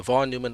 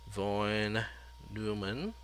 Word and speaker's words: von Neumann: uh von neumann neumann i was corrected several times about my pronunciation of of this particular last name is i think it's an austrian last name and i think it's supposed to be von neumann not von neumann um oh that's not